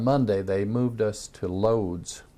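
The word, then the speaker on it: Łódź: they moved us to loads which in polish that's pronounced woj because the l has a dash on the deal and my my niece who is a missionary in romania said no that's woge and we were there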